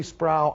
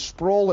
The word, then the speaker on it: Sproul: And I say, people, call me Sproul, I growl. My name is Sproul, it rhymes with soul.